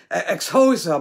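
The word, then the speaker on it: Xhosa: i actually went online ex hosa but you're supposed to say it like with that click of your tongue and and i can't do it but it it's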